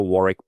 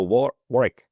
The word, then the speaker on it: Warwick: The English pronounce it with a silent W in the middle, and the Americans tend to pronounce the W explicitly, which of course is